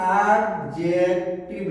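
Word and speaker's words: adjective: अब आपने देखा होगा कितनी गलतियां होती हैं, एडजेक्टिव लिखते हैं, और ये एडजेक्टिव वास्तविकता में प्रोनाउंसिएशन की दृष्टि से गलत है। एडजेक्टिव बोलोगे क्योंकि ए और जे के बीच का डी हमेशा साइलेंट रहता है।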